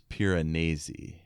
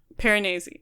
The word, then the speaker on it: Piranesi: I've got the ebook and the audiobook, and the way the narrator says it is Piranesi. Piranesi.